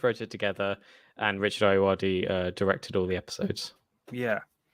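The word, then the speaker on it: Ayoade: Ayuwadi. Ayuwadi.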